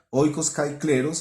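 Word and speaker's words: οἶκος καὶ κλῆρος: Su mujer y sus hijos estarán a salvo en el futuro, y su casa y su tierra, oikos kai kleros, así se pronuncia, casa y tierra, oikos kai kleros en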